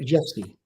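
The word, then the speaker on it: Rzewski: defeated and it's piece by Frederick jusy that's how you pronounce it American compos of Polish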